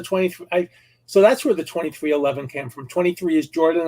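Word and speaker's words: 23XI: 23-11 that's the 23 so that's where the 23 11 came from 23 is jordan and 11 is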